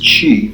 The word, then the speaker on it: qi: Qigong massage involves lightly massaging or tapping the skin while extending qi, pronounced qi, vital energy that is held to animate the